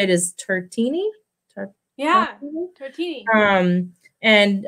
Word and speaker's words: Tartini: Tartini.